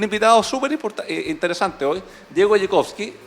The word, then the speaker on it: Dziekonski: Y para eso tenemos un invitado súper interesante hoy, Diego Jekowski. Dime si pronuncio bien después tu apellido, ¿no? Está bien, perfecto. Casi. Jekowski, pero es de origen polaco, ¿no?